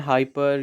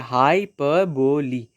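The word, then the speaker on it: hyperbole: तो देखिए बहुत लोग गलत बोलते हैं हाइपर ये वो, तो देखिए हाइपरबोली, ठीक है, हाइपरबोली, इस तरह से इसका प्रोनाउंसिएशन किया जाता है इस वर्ड का।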